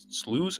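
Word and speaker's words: slough: hate huge slows slow how do you say that slows I've always wondered sloos sloos I think it's slooh I hate huge I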